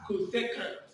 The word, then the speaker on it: cosecant: no sun all right so this should be pronounced as cosecant very good so let's look at the graph